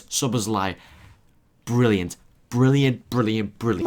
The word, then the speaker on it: Szoboszlai: I think that's how you pronounce it. How do you say it? Szoboszlai. Szoboszlai.